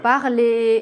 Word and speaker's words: parler: Mais si elle est combinée avec un E, elle ne se prononce pas. Par exemple, dans l'infinitif des verbes du premier groupe, bien sûr. Parler, aimer.